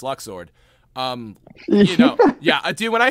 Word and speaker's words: Luxord: luxord it was like oh well Luke sword Luke sword it's luck sword yeah I do when